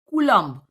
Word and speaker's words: Coulomb: The pronunciation is Coulomb attraction.